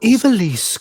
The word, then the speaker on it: Ivalice: The Ivalice Chronicles.